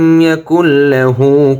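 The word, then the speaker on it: يَكُن لَّهُ: এখানে খেয়াল করুন, মাঝখানে কিন্তু একটি নুন আছে, এই নুনটির উচ্চারণ হবে না ইয়াকুল, সরাসরি লামের উচ্চারণ হবে ইয়াকুল।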